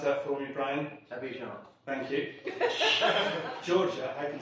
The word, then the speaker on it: Abidjan: The Ivory Coast, can you pronounce that for me, Brian? Abidjan.